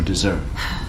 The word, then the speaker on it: dessert: 자, 일단 얘는 발음 기호가 다른 것도 있고요. 또 하나 가장 중요한 건 강세가 다르다는 거예요. 영어에서는 어떻게 보면 발음보다는 강세가 훨씬 더 중요합니다. 강세가 틀려버리면 얘네 입장에서는 완전 다른 소리예요.